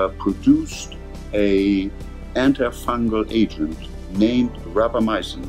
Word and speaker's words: rapamycin: a antifungal agent named rapamycin grappa from the first syllable of Rapa Nui and my sin for anti fungal so this compound was